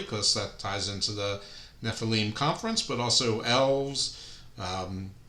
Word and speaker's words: Nephilim: In our association with the Nikon conference, the Nefilm Nephilim, sorry, I should know how to pronounce by now.